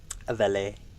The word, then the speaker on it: Valet: Valet. The T is silent.